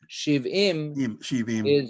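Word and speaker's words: שבעים: Right, in Hebrew, Sveim is full, Shivim it's the same letters, and it's pronounced differently, and Shivim is 70, Sveim is full, satiated.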